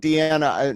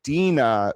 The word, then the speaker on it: Dina: Yeah, I pronounced it wrong. It's Dina, which is very close to Deanna.